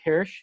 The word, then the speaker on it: Hirsh: I'm here today with Hirsh. Is that how you pronounce it?